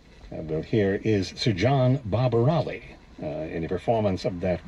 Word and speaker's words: Barbirolli: conducted by Sir John Barbirolli rhymes with jolly old boy